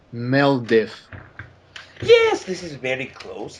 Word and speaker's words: Meeldareezff: So perhaps it would be pronounced Meeldareezff. Meeldareezff. So I think I have the last part incorrectly. Is it AZF? It would be Meeldareezff, but if you are pronouncing it more speedily, it would be Meeldareezff.